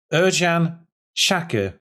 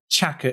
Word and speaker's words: Ercan Çakır: I've been reliably informed that his name is pronounced Ercan Çakır, or something to that effect. That's it. Çakır is the surname, and that's what I'll go with, Çakır.